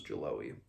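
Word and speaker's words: Geloë: I say Jaloe because that's just, I remember how the audiobook pronounced it was Jaloe.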